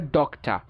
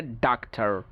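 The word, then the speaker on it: doctor: ব্রিটিশরা যেসব জায়গায় উচ্চারণ করে, আমেরিকানরা ওইসব জায়গায় উচ্চারণ করে যেমন ব্রিটিশরা বলে ডক্টর, আমেরিকানরা বলে ডাক্তার।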